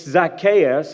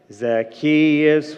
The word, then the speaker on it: Zacchaeus: And it's Zacchaeus. I think you pronounced it correctly.